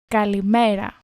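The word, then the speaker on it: καλημέρα: Kaliʻmeṟa. Kaliʻmeṟa. Ah, perfect. I know this actually from the napkins that you get in the Greek restaurants here in Germany. There's some survivor Greek as well. I remember kaliʻmeṟa indeed.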